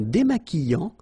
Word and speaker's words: démaquillant: So we've got this QU, but then U is not pronounced. So you get the sound qui. Okay, and then remember, double L after E will give you the sound y.